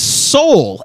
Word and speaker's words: sol: on on the screen the fifth Solfege syllable is soul s-o-l and then in the in the writing and Direction they call this person so that is wrong that is not correct well so I I